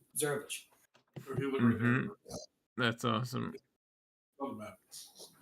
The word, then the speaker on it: Zarovich: Well, now you guys understand that he's pronouncing Yes. Sorovic in the same way you Americanize a name. Yeah. It's an Americanization of Zarovich.